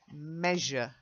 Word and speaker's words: measure: J, measure. Try it. Measure. Getting there, you're getting the Z, but you've got to get the J as well.